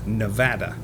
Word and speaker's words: Nevada: There is actually a YouTube video from I think it was NBC News all about the correct pron correct pronunciation and it really is apparently Nevada.